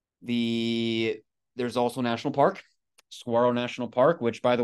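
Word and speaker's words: Saguaro: there's also National Park Saro National Park which by the way is also they they they call it they pronounce it swaro without the G in Tucson I found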